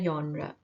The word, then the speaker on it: genre: It is genre. It is not genre. Urdu में या जैसे होता है उसको थोड़ा सा soft कर लें.